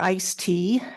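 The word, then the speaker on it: ISTEA: Surface Transportation Efficiency Act, or ICE-T, as its acronym is pronounced.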